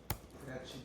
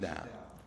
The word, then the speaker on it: Gratidão: Gratidão. That's how you say it in Brazil. Gratitude. Gratidão.